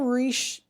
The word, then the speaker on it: Richelieu: Your character's name is, again, and I'm sorry, I'm not going to pronounce it. Cardinal Richelieu. Cardinal Richelieu.